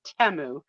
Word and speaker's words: Temu: include all 10 dresses sounds like Teo yeah yeah no kidding although they don't pronounce a te they say temu oh do they yeah